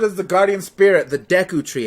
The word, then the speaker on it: Deku: the guardian spirit the Deku Tree it's pronounced Deku you you're on deck II not Daegu not d KU Deku children were forced